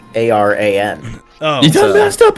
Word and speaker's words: Aran: But it's how the substitute teacher pronounced it. No, that was with two A's. This is like Aran. Oh. You done messed up, Aaron. It's a completely different name. Okay, so just Ron then. Yeah, Aran.